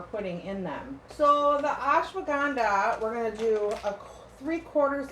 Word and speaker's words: ashwagandha: It's called the ashwagandha.